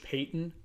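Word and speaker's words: Paton: his own GM uh George Payton or even though it's spelled Patton same thing um it you know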